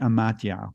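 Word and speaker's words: amathia: stupidity however is the Greek the ancient Greek and matya which is spelled a-m-a-t-h-i-a and it really means and wisdom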